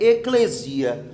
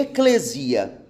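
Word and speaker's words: ἐκκλησία: é Eclésia ou Eclésia a pronúncia correta a gente é eklésia nós por causa de sermos Paulistas né tá aqui na região sudeste a gente é acostumado com um acento na letra e tudo né se observar mas a palavra a pronúncia é eklésia o significado de Eclésia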